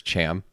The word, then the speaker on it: Cham: I'm pretty sure it's Cham. It is Cham.